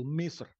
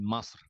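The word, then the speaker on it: مصر: jumhuriyatul misr eh al-arabiyah yang paling bawah tuh cara baca orang Mesir karena orang Mesir mengucapkan Jim ya tidak semuanya kalau di Kairo begitu Jim diucapkan dengan gim jadi gumu ya masr Il Arabiah bedanya kalau yang bahasa baku standar itu misr kalau orang menggunakan bahasa Amah menjadi masr jadi antara misr dengan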